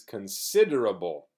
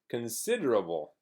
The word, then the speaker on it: considerable: the a it's always it's not bleh it's bull buh buh buh so the pronunciation of this is considerable everybody say considerable considerable and also its cun it's not corn corn the Spanish but cun considerable considerable so this is the